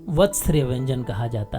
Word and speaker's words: वर्त्स्य: इसके उच्चारण में पहले व फिर आधा त आता है। जहाँ कहीं आधा अक्षर की बात होती है, इसका मतलब वहाँ केवल व्यंजन बोला जाना है, उसके साथ कोई स्वर नहीं बोला जाएगा।